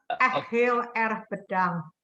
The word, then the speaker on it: Heel erg bedankt: Heel erg bedankt.